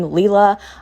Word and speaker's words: Lila: So I am pronouncing her name Leela. I know that she is Italian, so I'm not entirely sure. I'm pronouncing it like that for now.